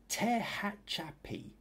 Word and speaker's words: Tehachapi: Nadia was thanking everybody for the comments, and Robert says, okay, Tehachapi. It's how you pronounce it.